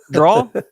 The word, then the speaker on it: drawer: Draw. Yeah. Draw. Draw. Yeah. People say drawer. Drawer is how it's spelled, but I say draw. Draw is like how you say it, you know?